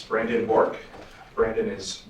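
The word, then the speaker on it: Bourque: State your name for the record and spell it first and last name, please. It's Brandon Borc.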